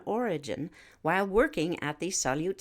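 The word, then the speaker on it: Salyut: spacecraft and its occupants it's known as the solute UFO sighting that's spelled s-a-l-y-u-t between May 14th and May 18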